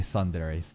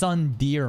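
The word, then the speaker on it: tsundere: 2 videos I hope he doesn't say Sunder it's Sund dear man come on if if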